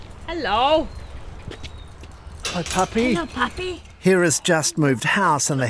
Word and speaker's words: Hera: Right, should we go and meet Hera? Yeah, let's do that. How do you pronounce her name before I get it wrong? Hera.